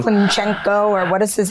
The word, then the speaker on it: Klitschko: Klinchenko, or what is his, how do you pronounce his last name? Very Ukrainian last name. Yeah. Very Ukrainian last name. Klitschko.